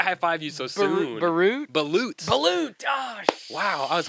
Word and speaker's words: balut: Balut. Balut. Oh, Wow, I was hoping. shit. I was really hoping you'd go for the balut. I said Barut.